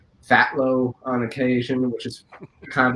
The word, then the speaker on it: Phthalo: so starting from like the name phelo I'm saying yes I know a lot of people are probably pronouncing it really wrong right now I I understand they call it filo uh what was it um Philo or stuff like that it's just fat low on occasion which is